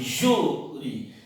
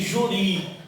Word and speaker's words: júri: Você diz assim, júri. Então você não diz juri, você diz júri. Então tem acento na penúltima sílaba.